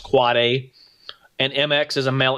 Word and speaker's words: AAAA: AAAA, that's an end device with IPv6, or what we call pronounced quad A.